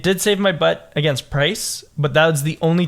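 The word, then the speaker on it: Pryce: It did save my butt against Price, but that was the only time that it was useful. Price? Yeah, Price, The ice? the gym leader. Price the ice. Oh my god, it rhymes.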